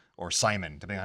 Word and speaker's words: Simon: Because in Japanese it's pronounced Simone.